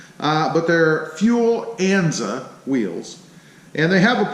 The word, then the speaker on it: Enza: on them ann's a-- which is a nza I think I've been pronouncing that name wrong actually in a lot of the videos I think I've been calling him Enzo's but their fuel Enza wheels and they have